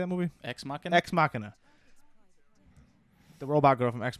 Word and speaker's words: Ex Machina: Ex Machina.